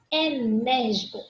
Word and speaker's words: enérgico: Enérgico. Olha o acentozinho aqui, ó. Na antepenúltima sílaba tônica, portanto, proparoxítona, coluna da direita, tá?